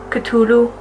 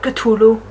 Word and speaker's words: Cthulhu: Apparently that's how you're supposed to pronounce it, according to H.P. Lovecraft. Cthulhu. Like, really spit it out, Cthulhu.